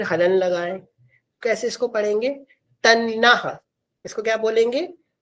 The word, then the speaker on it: तन्नः: तन्ना इसको क्या बोलेंगे? तन्ना टी A double N ए तन्ना समझ गए? टी A double N ए तन्नः इस तरह से इसको प्रोनाउंस करेंगे।